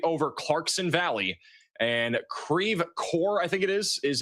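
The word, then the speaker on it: Creve Coeur: over Clarkson Valley and Creve Core I think it is is in the path of this. I know some of you guys are correcting my pronunciation. Creve core Clayton Normandy St.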